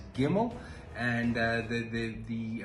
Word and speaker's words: Gimel: Today we are covering building block number three and that is the letter gimmel pronounced as gimmel.